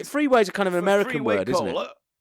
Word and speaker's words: Freeway: And he wasn't just mispronouncing freeway, everyone. It's not three-way as in an orgy cola. It's freeway as in a road.